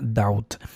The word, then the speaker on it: doubt: Aquí la B es muda y la combinación eh no es, no es diptongo o , sino es diptongo au. Entonces se pronuncia doubt.